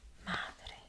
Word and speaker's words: Madre: good yes go ahead remember we want to make sure we trip the r a little bit and by trip I mean just a little bit behind the teeth